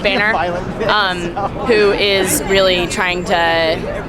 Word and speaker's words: Boehner: And we remade it featuring the face of John, I believe his name is pronounced Boehner, who is really trying to wreak havoc in the Smithsonian Institution right now.